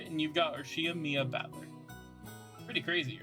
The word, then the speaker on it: Battler: just give me a break anyways my name's batler well it's pretty damn weird don't you think